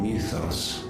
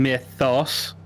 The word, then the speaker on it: Mythos: missiles even then he's not saying Mythos he's saying like mithos like um that's